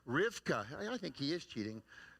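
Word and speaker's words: רבקה: rebecca's name in hebrew although they don't pronounce it rebecca they pronounce it rivka i think he is cheating next rivka is how the jews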